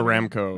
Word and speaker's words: Aramco: I mean, for example, this company, Aramco. I'm sorry, how do you pronounce it? Aramco. Aramco.